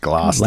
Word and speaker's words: Gloucester: It's pronounced Gloucester. Lackey your own deck there.